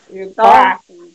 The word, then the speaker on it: sofá: qual é a sílaba que eu falo com força? Sofá. É o fá.